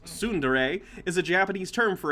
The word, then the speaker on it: tsundere: 2 it's amusing yeah it's funny uh tsundere pronounced tsundere is a japanese term for a character development